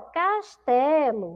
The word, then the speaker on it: castelo: Qual a sílaba mais forte, segundo ano dessa palavra? Ó, qual é a sílaba que demora mais na boca da pró? Castelo, castelo. A sílaba mais forte é a sílaba té, tá bom? Como essa sílaba que tem um som do U não é uma sílaba forte, eu coloquei a letra O, tá bom?